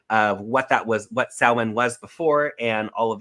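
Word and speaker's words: Samhain: chance go on YouTube look at what saan it's spelled s m Ha i n look at the history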